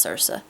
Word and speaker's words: Circe: be Rex and Circe, or Circe, Circe. Her name is pronounced Circe.